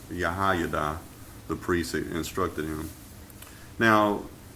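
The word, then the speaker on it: Jehoiada: him uh and really the nature Hebrew that's pronounced yahay the priest instructed him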